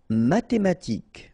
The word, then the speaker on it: mathématiques: Mathématiques. Remember, H doesn't exist, so mathématiques. Remember, Q-U-E at the end, K.